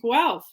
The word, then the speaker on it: Guelph: about the university of guelph um we always say it rhymes with self i don't know if